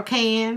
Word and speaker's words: Cane: Uh, it's K. C A N E N E is silent.